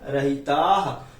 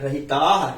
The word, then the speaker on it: रहिताः: यदि ये चैतन्य मुकुर इव भावाश्चिद चितः समम भांति द्रव्य जनी लसंतोंत रहिताः। बड़ा है अर्थात वो बहुवचन का है, रहिताः ऐसे पढ़ना है, रहिता नहीं पढ़ना।